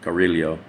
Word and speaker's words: Cariglio: My real last name is Cariglio. It's actually pronounced Cariglio.